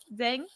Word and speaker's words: Zheng: Zheng? Sorry, Yeah. I want to make sure I pronounce this right.